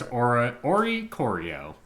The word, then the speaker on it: Oricorio: Yes, and it's Oricorio.